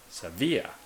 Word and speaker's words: Sevilla: But usually in the Hispanic way, or Spanish, or Romantic languages, I mean, I know this mostly from Spain, it's usually on the second syllable. So, Madrid, or Sevilla, second syllable.